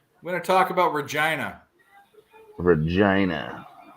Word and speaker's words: Regina: Regina. I thought it was Regina my whole life. It rhymes with fun.